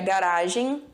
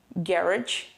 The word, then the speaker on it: garage: E eu falo garage, garage, ou então garage, garage. Eu tenho essas 2 pronúncias, a questão do americano e do britânico.